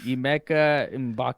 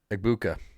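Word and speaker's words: Egbuka: Oh, my other one is going to be uh Ibake or how do you pronounce it? Oh, uh, shoot. Ibuka.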